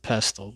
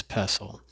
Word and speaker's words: pestle: I did pronounce it pestle, but it's pestle.